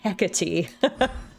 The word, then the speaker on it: Hecate: Anyway, it's a hecking witch, so you should pronounce her name hecky.